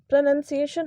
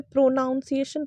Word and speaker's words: pronunciation: सा एग्जांपल लेती हूं यह प्रनंसीएशन होता है इसका सही उच्चारण और हम में से कई लोग इसे प्रोनॉन्सिएशन पर तैयार है बचपन से मैं